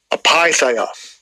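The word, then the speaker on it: ἀπείθεια: Apitheia. Yeah, so that's the pronunciation for that word disobedient in the Greek.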